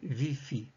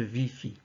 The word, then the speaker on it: ViPHi: vidéo, je parlerai de VIPHI, et que vous devrez vous efforcer de mettre les vôtres, sachant que je prononce moi le VI et le FI.